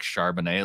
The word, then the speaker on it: Charbonnet: good name for Zach Charbonnet, like a good nickname. And he landed on the nickname of Char Bonnet, because it's another way to pronounce Charbonnet.